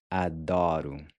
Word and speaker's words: adoro: Adoro. Adoro. Adoro. I love it. So the first O is pronounced like the A in awesome.